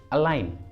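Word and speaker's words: align: अगला एग्जाम्पल देखिए अलाइन, अलाइन, इसमें भी एन के पहले जी आया है तो जी को प्रोनाउंस नहीं करेंगे, इसलिए इसका सही उच्चारण होगा अलाइन, अलाइन।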